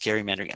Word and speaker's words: gerrymandering: rig jury rig gerrymandering gerrymandering should be pronounced gerrymandering i always mix it up gerrymandering um